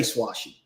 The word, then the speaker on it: Swoish: His last name is spelled Swoish. So wow. I asked their coach, I was like, I really like this kid, would like to know how to pronounce his name. Asked him to, and they're like, we just say Swashy.